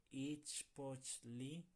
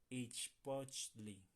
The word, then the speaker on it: ichpochli: Se ichpochli onimitz nel tocac. Tenemos ahí una palabra complicada, ¿verdad? Ichpochli. Ichpochli. Vamos a separarla en sílabas.